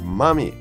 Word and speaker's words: mummy: to make a mummy everyone noticed the pronunciation of this word mummy mummies are from Egypt right mummies it's different from mommy my mommy my mother like that she is